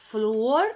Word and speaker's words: flúor: tônica ou a penúltima o flúor tem a penúltima sílaba tônica portanto não é uma Lace tona porque as oxítonas tenha última sílaba tônica tipo Pelé café certo paroxítona paroxítona são as palavras que tem a manta a penúltima sílaba tônica que vem antes da última então flúor nós temos o Flu e depois temos a sílaba or é a penúltima sílaba então é uma paroxítona o e as proparoxítonas